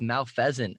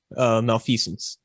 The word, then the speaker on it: Malfeasance: We're sitting here with Malfeasance.